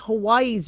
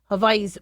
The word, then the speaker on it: Hawaii: First hurricane to hit Hawaii's Big Island. Um I know we've been calling it Hawaii, but it's Hawaii with it's pronounced with a V.